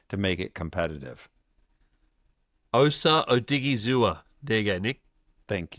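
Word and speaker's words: Odighizuwa: It's actually a fair bit of onomatopoeia in Odigizua. So it is actually, it sounds how it's spelt too.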